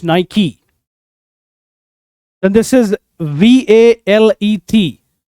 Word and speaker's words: Nike: इसको miss pronounce करते हैं हम नाइक, but it is not Nike. The correct pronunciation is Nike. It's not Nike, it's Nike.